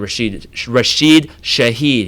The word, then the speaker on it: Rashid Shaheed: want to stretch the field with Olave and Rashid Shaheed.